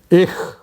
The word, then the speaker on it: ich: CH is pronounced as H. I don't know how to write it in English. H means it is not like cha in in English. H, k, you may pronounce. For example, ich. Ich. It is like ich. Ich means I. Ich. Or Buch. Buch is book. So Buch, it is more or less pronounced as H, Buch.